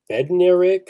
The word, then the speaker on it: Bednarik: He won the Bednarik. You guys know how to say that? Yeah, you said it right. You nailed it.